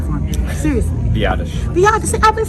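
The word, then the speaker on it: Biadasz: standing here with Washington Commander Center Tyler Tyler pronounce your last name for me seriously Vates VI I've been saying it the whole time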